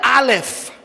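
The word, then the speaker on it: אָלֶף: உண்மையாவே அதுக்கு பேர் ஆலெஃப். Et là on dit ஆலெஃப். ஆலெஃப்னா நீங்க நினைக்க கூடாது ஆ அப்படின்னு. ஏன்னா இப்ப இங்கிலீஷ்ல ஏ சரியா, தமிழ்ல ஆ நா, சிங்களத்துல அயன்ன, அப்ப ஆ, அப்ப ஆலெஃப் வந்து ஆ அப்படின்னு நினைச்சிட கூடாது.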